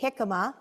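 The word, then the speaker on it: jicama: of you eat hikma it's spelled with a j j i c a m a hikma it is delicious it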